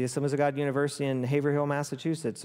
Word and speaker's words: Haverhill: of God University in Haverhill, Massachusetts, or as Paul corrects me, it's Averill. I'm like, you Bostonians can't pronounce H's, but it's spelled Haverhill. Dr.